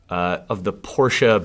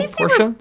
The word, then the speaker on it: Porsche: do you have a Porsche? I actually believe it's pronounced Porsche. No. Really? No. I have been corrected several times by Porsche owners.